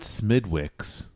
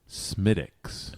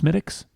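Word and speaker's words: Smithwick's: I have uh Smidix red ale. It's a great classic Irish ale. Not Smidwix. Smidix. How's it spelled? Smith Wixs. Yes. Smith Wix and it's pronounced Smidix.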